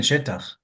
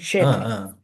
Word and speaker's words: Shetach: I don't know how he never got assassinated, but Shimon ben Shetach or Shattach, people pronounce it differently.